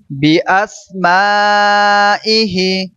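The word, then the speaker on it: بأسمائه: আমানতু বিল্লাহি আবার বলুন, এখানে মান গুণ হবে আমানতু বিল্লাহি কামা হুয়া বিআসমাইহি এটা সদের মতন উচ্চারণ হবে না, সিন বিআস মা ইহি وَصِفَاتِهِ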